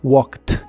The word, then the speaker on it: walked: la terminación e d Aunque en esta palabra esa Ed se pronuncia como t Así que es walked Walk y lo puedes usar